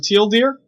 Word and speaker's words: TL;DR: Hello everyone, SexyMGTOW here, and this is a response to Teal Deer. I really do feel like I'm internet famous. That's how he pronounces his name.